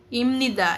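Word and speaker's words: 입니다: Si Pop daw magiiba. Okay magiging M sound.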